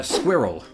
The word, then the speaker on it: squirrel: Yeah, it's it's a very subtle difference, but somebody pointed out to me that Americans more or less say squirrel in one syllable. Say it again. Squirrel. It's almost like squirrel. But you you don't quite do it. You you do put two syllables in there almost.